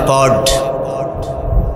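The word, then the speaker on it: Ford: বড় বড় কোম্পানির মাঝে একটা কোম্পানির নাম হলো প্রড ওই আটটা সাইলেন্ট থাকে তাই উচ্চারণ হয় পড গাড়িসহ অনেক কিছু বানায়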